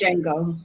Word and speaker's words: Django: I think they said the D is silent, so It's Django. just Django.